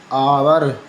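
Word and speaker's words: hour: लेकिन कई शब्दों में एच मूक यानी कि साइलेंट रहता है। जैसे आवर, ठीक है, आवर, ऑनेस्ट, ठीक है, ऑनेस्ट।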